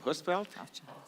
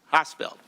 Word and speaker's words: Hosfeld: Yeah, I appreciate that bipartisan comment from Senator, how do you say your last name, Husfeld? Hosfeld, okay.